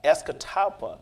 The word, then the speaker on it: Escatawpa: Escatawpa, they That's call it.